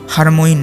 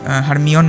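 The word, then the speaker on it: Hermione: এই প্রসঙ্গে বলে রাখি এখানে হারমোইন হচ্ছে কিছুটা অনিচ্ছাকৃত বিকৃতি হারমোইন নামটার সরি হারমিয়ন নামটার তো আপনারা সবাই জানেন যে হারমিয়ন হ্যারি পটারের যে সিরিজগুলো ছিল তাদের মধ্যে একটি চরিত্র।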